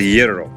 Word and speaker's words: gyro: What did she How did she say you pronounce this? Gyro. No, I'm calling it a gyro. And it's it's it's a yero.